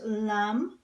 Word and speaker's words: lamb: we've had words with silent B like the word lamb for a baby sheep and we've had words